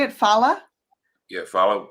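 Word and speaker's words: Phala: Fala.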